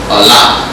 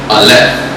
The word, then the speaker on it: Aleph: The first letter is Allah, or how to pronounce it today, Aleph.